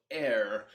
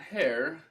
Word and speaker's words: heir: um the red bull air not hair yeah it's pronounced like air that which we breathe in the air the person who has